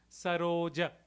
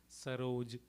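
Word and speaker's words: सरोज: it in Sanskrit here it will be Charan saroja is how we would pronounce in Sanskrit here it would be saroj saroj so SRI Guru Charan saroj Raji SRI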